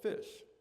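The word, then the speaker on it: Phish: My first year college roommate introduced me to a band called Fish, spelled with a ph, much like an unfortunate majority of Philadelphia branded trinkets and shashkis.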